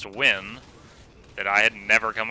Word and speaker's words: Nguyen: y en and apparently that's a common name pronounced twin that I had never come across in my life so I was like hey mr.